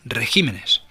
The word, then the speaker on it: regímenes: Algunos sustantivos al formar el plural cambian el acento de sílaba. Régimen, el plural regímenes.